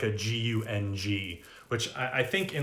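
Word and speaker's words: गं: for the bija mantra the seed sound uh at the beginning is more like g-u-n-g rather than just g-a-n so someone asks uh sounds like you pronounce gun not gum um right so uh it's written gum g-a-m with a dot uh transliterated but the actual sanskrit is gang which is more of that nasally sound uh like a g-u-n-g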